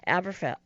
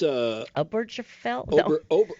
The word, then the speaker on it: Obergefell: The violation of their right to marry, and that the Supreme Court established in the previous case of Aberfeld. How do you say that word? Oh, it's Obergefell?